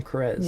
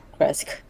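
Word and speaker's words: Krezk: They're from Krez. Useful. Kresk. Nope, Krez. Tiny village just south of Krex. I always Damn. pronounce that one wrong though.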